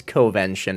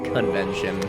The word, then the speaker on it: Covention: forever do it loose I understand now that I mispronounced the title of the episode and it's covention not convention so ah is magical